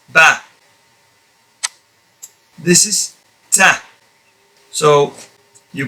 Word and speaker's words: ب: By firmly keeping your lips closed first and then opening them, and at the same time bringing out a voice. Ba.